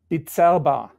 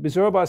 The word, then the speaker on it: Bizerba: how did you make the leap from from beers about and i'm sure i'm pronouncing it wrong uh to um to um um so the exact pronunciation is bitsaba biserva and and bizerba stands it's an interesting story it's actually the